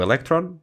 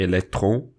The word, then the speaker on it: Electron: Portanto, mesmo só na na parte dos lançadores, tem o electron, não é electron, como tu pronunciaste em francês, português, é pronto, tem o eletrão e tem o neutrão.